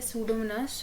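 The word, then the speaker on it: Pseudomonas: यहाँ पे P silent है, सूडोमोनास टूडिया।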